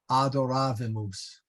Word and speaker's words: adoravimus: It is not adoravimus, adoravimus. So adoravimus. Vimus, short I, and the accent is on the long A there.